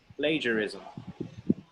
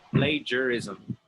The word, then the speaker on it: plagiarism: But this next one is plagiarism. Plagiarism. Plagiar is Yes. now the G like gym. G for gym. Plagiarism.